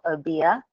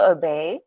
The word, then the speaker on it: Obeah: And thank you for clarifying the pronunciation of Obeah. I've been saying Obey for a while.